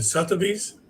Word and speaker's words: Sotheby's: historical background of, how do you call it, Sotheby's? Yes. Am I pronouncing correctly? Yes. Oh, okay. So just give us a background of Sotheby's, when it started, and whatever you can talk about it in short.